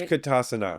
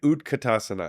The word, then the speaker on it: utkatasana: Utkatasana. Yeah, let's do that. Did I say it right? Utkatasana.